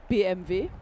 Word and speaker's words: BMW: So by all rights it should be pronounced how BMV.